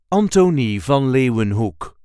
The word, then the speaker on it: Antoni van Leeuwenhoek: This is the way we say Antony von Lewin Hook. Anton von Lewanhook. There is a light emphasis on the first syllable of the first name and the first syllable of the last word.